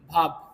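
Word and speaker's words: verb: আমরা এটাকে ভার্ব বলি, কিন্তু এটার সঠিক উচ্চারণ হবে ভাব। কি হবে? ভাব। র উচ্চারণ হবে না।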